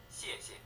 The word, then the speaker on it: 谢谢: 谢谢 It's not very easy to say, is it? The second syllable isn't stressed, thus rather weak.